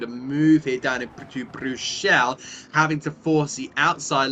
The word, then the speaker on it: Bruxelles: In the 7 and a bit years that I've done commentary, a Bruxelles. That is the way you pronounce it.